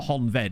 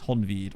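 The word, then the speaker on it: Honvéd: but it is like it's not honved is it it's honveed or something like that is a slightly tough one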